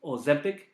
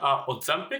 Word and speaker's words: Ozempic: I think it's Ozempic and Wegovy. Okay, I believe that's the pronunciation. Say that again. Ozempic. Ozempic. What's the other one? Wegovy. Wegovy. Yeah, I believe that's how you pronounce it.